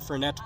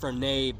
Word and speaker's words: Fernet: It had some sugar, yeah, but it also had ricotta, cacao nibs, orange zest, and Fernet Branca.